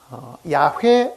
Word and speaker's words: 야훼: 왜 이 발음을 야훼라고 발음을 하기도 하고 여호와라고도 말하는가 하는 것은 이 히브리 단어가 가지고 있는 그 글자 자체 때문에 그렇습니다.